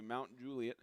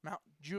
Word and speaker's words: Mount Juliet: always put the emphasis on the et. You always say Mount Juliet. It's Mount Juliet.